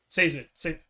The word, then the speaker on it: Sazed: letter that I think Sazed or Sezed, how do you pronounce his name, Chad? Sazed. Yep. Missed it twice. It's Sazed for short, so you're good.